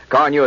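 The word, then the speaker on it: Carnu: Carneu is spelled C A R N U.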